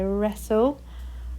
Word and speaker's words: wrestle: the end wrestle now this one is quite tricky so it's an air and then it's almost got like a silent t and another l on the end so wrestle wrong has got ong